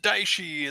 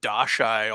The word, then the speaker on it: Daishi: And there's a guy in a group who just kept mispronouncing, like butchering all the Japanese names for, like, the Daishi and he kept calling it the Dashai all the time.